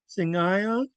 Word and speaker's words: Singayon: This phrase here, Singayon. Remember the rule, whatever comes before the HL has to be pronounced together with it. So in phonetics, I have sing, I, on, sing, I, on, sing, I, on, sing, I, on.